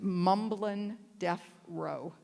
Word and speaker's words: Mumblin' Deaf Ro: He's known as Mumblin' Deaf Row. What? Mumblin' Deaf, D-E-A-F, Row, like for Ronan.